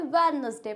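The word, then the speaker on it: Wednesday: कुछ लोग अब वेडनेसडे को क्या पढ़ते हैं, वेडनेसडे, बट ये होता क्या है, वेडनेसडे, इसमें डी होता है साइलेंट।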